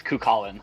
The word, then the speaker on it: Kallin: Is it Kallin? Yes, it's Kallin.